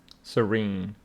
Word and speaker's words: serene: Serene. Serene. With the stress on the second syllable.